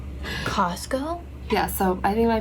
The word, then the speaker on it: Costco: Like oh, Costco. I think Costco, okay. I grew up saying like I grew up with the T being silent, like completely silent. Costco?